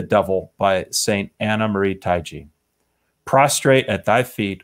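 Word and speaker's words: Taigi: It's pronounced, depends, but yeah, Taiji is the typical pronunciation.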